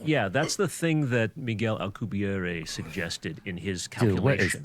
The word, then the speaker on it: Miguel: and by the way you pronounced it in a French way but he's Spanish or Mexican me really yeah oh so it's just like Michelle what's up v m Miguel Miguel Migel Miguel Miguel